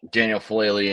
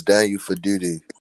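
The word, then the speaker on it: Daniel Faalele: I think that Daniel Falele and Andrew Voorhees are terrorists and should not be playing anymore. You said his name wrong. It's Daniel Faduti.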